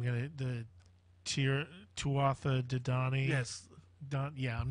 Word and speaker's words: Danann: The Irish Book of Invasion talks about the, I'm not even going to, the Tuatha De Danann. Yes. I'm not even going to try Tuatha De Danann. Danann, okay.